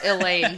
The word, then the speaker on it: Elayne: And That's how I pronounce it, right? Yeah, Gawyn, yeah. And Elayne, right?